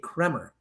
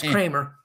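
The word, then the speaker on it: Kremer: It's spelled K E M E R, so I kind of want to say Kmer, but it's Kramer.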